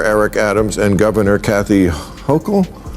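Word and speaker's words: Hochul: Uh what do you New Yorkers think of how Mayor Eric Adams and Governor Kathy Hokll Yes. Yes, you pronounced it right.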